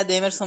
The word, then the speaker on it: Edemerson: Pronúncia está correta, é Edemerson mesmo. O acento é aí no segundo Em relação a um